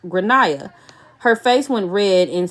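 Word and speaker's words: Gráinne: and I said well in Ireland they typically pronounce it like granah her face went red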